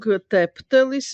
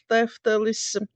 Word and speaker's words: teftelis: they in Latvia, yeah, didn't pronounce the letter F and usually substitute it with P. I remember my aunt saying teptelis instead of teftelis.